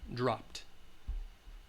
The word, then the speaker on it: dropped: the it dropped okay you should write for this one the T sound dropped okay does that make